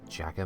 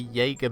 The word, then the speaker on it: Jaeger: friend of my brothers he was calling it Jagger Mac for years gonna call it Jagger Mac